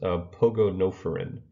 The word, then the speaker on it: Pogonophorans: And so this word is pronounced pogonophoron.